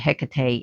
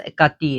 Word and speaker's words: Hekate: But they even say, well, Heket is an ancient form of Hekati, which we pronounce it Hekate in America, but she's pronounced Hekati in Greek.